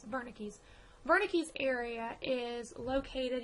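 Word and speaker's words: Wernicke: Barney keys area and it's spelled the Debu it's German I believe it's Verna Keys Verna keys area is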